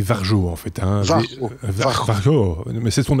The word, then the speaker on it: Varjo: En fait, c'est comme Barjo mais avec un V.